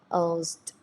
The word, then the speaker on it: toast: T, S for S, T for T, O-A for O. So T, O, T, Toast. So toast.